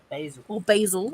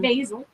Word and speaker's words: basil: Basil. As some Basil. as some Americans say. Basil. Whereas we're just like basil in it.